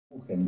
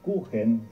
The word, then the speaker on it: Kuchen: La palabra Kuchen, que se escribe con CH, pero la CH en alemán se pronuncia J, es el término que